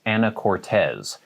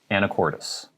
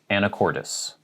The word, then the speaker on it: Anacortes: and think that it's anna cortez but we pronounce it anacortes anacortes so the end is a tis not a tes and it's an a